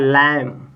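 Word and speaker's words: lamb: तो यहां पे देखिए एल ए एम बी तो यानी कि बी के पहले एम आ गया है तो इसका मतलब बी का बी यहां साइलेंट हो जाएगा यहां भी साइलेंट हो जाएगा यहां भी साइलेंट ठीक है ना तो आप इसको पढ़ेंगे तो क्या लिखा है लम क्या लिखा है लम ठीक है ना लम ब नहीं करेंगे लम लम मींस होता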